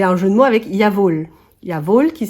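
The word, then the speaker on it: Jawoll: prononce y vol le jeu de mot donc Yav pour dire bien sûr et y vol avec vol pour la laine ça veut dire laine en allemand donc donc maintenant vous savez comment se prononce cette laine c'est très subtil mais bon après j'ai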